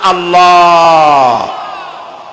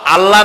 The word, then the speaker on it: আল্লাহ: আল্লাহর নাম আল্লাহ, বলেন তো। আল্লাহ নয় কিন্তু, আল্লাহ হচ্ছে অশুদ্ধ, শুদ্ধ হচ্ছে আল্লাহ। বলার সময় মুখটা গোল হয়ে যাবে।